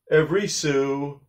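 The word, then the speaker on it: sou: So we say sue.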